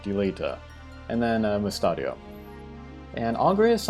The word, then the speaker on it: Delita: and they are agrius delita delita i need to say his name correctly deleta and then mustadio and